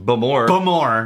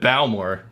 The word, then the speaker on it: Bowmore: a little dizzy now looks like bowel or supposedly pronounced boom or no more now that but bowel more for those in the know for those those you like to go to other countries and explain to them how to pronounce their name no no this is